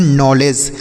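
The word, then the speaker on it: knowledge: डी जी ई तो इसे हम पढ़ते हैं नॉलेज के एन ओ डब्लू एल ई डी जी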